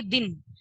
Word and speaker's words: दिन: Next देखिए दिन, दिन का अर्थ होता है दिवस, और दीन, दीन का अर्थ होता है गरीब। ये अपने उच्चारण में ही देख लिए, दिन और दीन।